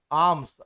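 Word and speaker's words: alms: आर्म्स। आर्म्स है ना? आर्म्स L silent है।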